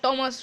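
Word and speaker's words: Thomas: এটা থমাস উচ্চারণ নয়, টমাস হবে, কিন্তু এইচের উচ্চারণটা হয় না এখানে।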